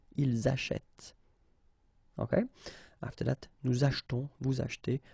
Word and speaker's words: achetons: Okay, after that, nous achetons, vous achetez. Remember this here is silent or mute.